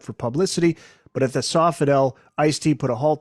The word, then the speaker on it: Sofitel: Angeles at the uh I think it's pronounced the Sofitel Hotel is that right yeah body count by now